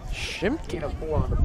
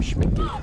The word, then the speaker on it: Schmicke: He is able to do it as Schimke. I believe that's how we were mispronouncing our kicker's name. Schmicke is his name.